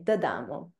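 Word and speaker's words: D'Amo: So pretend that the apostrophe is not there. The Damo.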